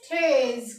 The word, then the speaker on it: treize: तो 13 को बोलते हैं हम, इसको लिखते हैं TREIZE और इसको इसकी प्रोनाउंसिएशन लिखेंगे हम TRAYZE। तो इसको क्या पढ़ेंगे? थ्रेज।